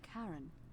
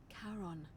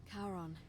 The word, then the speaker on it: Charon: it's a big coin your pronunciation is a little off the name you heard wasn't Karen it was c h a r o n as in Caron the ferryman of the Dead karon who in exchange for the right coin helps